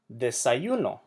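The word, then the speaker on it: desayunó: Desayuno, which means breakfast. This word, desayuno, means ate breakfast, as in he ate breakfast. Desayuno puts the emphasis on the last syllable. Therefore, we need to write that accent.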